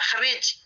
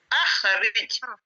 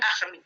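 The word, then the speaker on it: أَخْرِجْ: Jadi di sini tidak boleh hamzahnya ini dibaca langsung Rabbana khrij, tidak boleh. Harus bacanya Rabbana akhrij, Rabbana akhrij.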